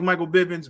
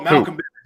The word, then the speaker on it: Malcolm Bivens: And I mean, again, I don't like Michael Bivens, but character work and I can tell you don't like him because you saying that man's name wrong. Oh, Malcolm Bivens, yeah.